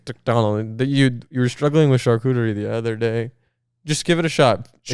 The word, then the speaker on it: charcuterie: You were struggling with charcuterie the other day. Just give it a shot. Charcuterie. Because I just said it. You say it like cuterie. Cuterie, yeah, cuterie.